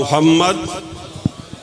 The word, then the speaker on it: محمد: صلی علی محمد، بولیے۔ لفظ محمد کا صحیح تلفظ یہ ہے کہ دوسرے میم پر ٹھہرا جائے۔ بولیے اللہم صلی علی محمد، اونچی آوازیں، مجمع تو